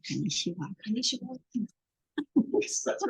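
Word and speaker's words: こんにちは: So you wouldn't say like konnichiwa or like konnichiwa. It's konnichiwa. There's like you hit an N and then you hit another N in the same movement.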